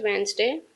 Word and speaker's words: Wednesday: First, it was Wednesday morning. Wednesday in word Wednesday. D is the silent word.